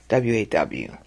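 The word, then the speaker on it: ו: call today vibe that should be called Wow waw that was the older pronunciation for it that was what is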